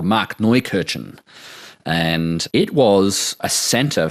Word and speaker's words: Markneukirchen: German town right near the Czech border called Markneukirchen.